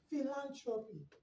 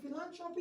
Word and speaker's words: philanthropy: let's appear sounds v it has an f sound so you're not going to be saying plant trophy you're going to be saying fee land trophy f sound philanthropy and philanthropy is divided into four